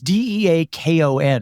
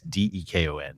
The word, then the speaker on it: Dekon: It's a combo of two guys' names. It's Deakon, right? No, I don't think there's an A. Okay. It's Dekon. And I always just say Dekon.